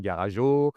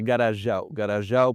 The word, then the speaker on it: Garajau: a beaucoup d'expatriés ici qui ont du mal à prononcer le nom de la ville, moi le premier. Quand je suis arrivé, j'appelais ça Garago, il y en a d'autres même c'est Garageon. Allez on y va !! bah oui oui après Mais non, non, c'est Garagau pour le A et le U, on prononce toutes les lettres.